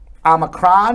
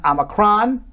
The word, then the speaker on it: omicron: jill so omicron uh which can be pronounced both omicron and omacron i know it sounds